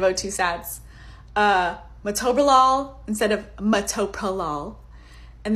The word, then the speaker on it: O2 sats: Obviously, number one, O2 stats instead of O2 sats.